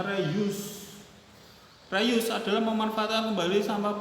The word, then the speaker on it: reuse: Terus reuse ya, bacanya reuse.